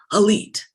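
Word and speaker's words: ALLETE: that parent company is called elite it's spelled a-l-l-e-t this letter was from a major investor in elite so this investor is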